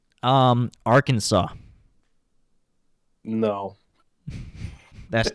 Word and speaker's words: Arkansas: akanza came from and the southern pronunciation was like arkansas our kansas it's our kansas that's